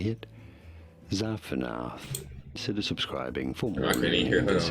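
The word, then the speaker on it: Zaphenath: You say it Zapanath.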